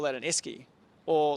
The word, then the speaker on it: Esky: a uh like a how do you say Esky ski like like what's it what's like a